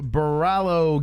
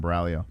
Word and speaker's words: Borralho: I think that's how you say his name, Borralho. I was saying it wrong the whole time.